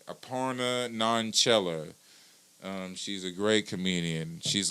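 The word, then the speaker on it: Aparna Nanchherla: Aparna Nanchella.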